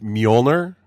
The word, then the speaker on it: Mjolnir: written a book called mole near did I pronounce that right pretty close alright cuz it's MJ o L and I are acai it's Muller that's that's it see the Norse had